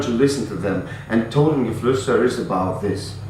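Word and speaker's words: Totengeflüster: It's Totengefluster in German.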